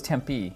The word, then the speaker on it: Tempe: Oh, Tempe. I thought it was Tempe. No, the E is silent.